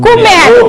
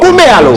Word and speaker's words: Kouméalo: Kouméalo. Kouméalo. Les Afriques. Kouméalo s'écrit.